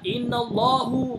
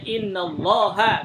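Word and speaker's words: إنَّ اللهَ: Nah, harusnya inna allaha ghafurun rahim. Begitu, bukan inna allahu.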